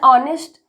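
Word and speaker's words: honest: एन ऑनेस्ट, यहाँ पे H silent है, तो हमेशा एच से साइलेंट होने वाले जो सब वर्ड हैं उनके पहले हम एन का प्रयोग करते हैं।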